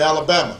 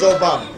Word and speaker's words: Obama: Although they wouldn't say it right, and they'd call me Alabama. Or they'd call me Yo Mama. And I'd have to explain my name's Obama.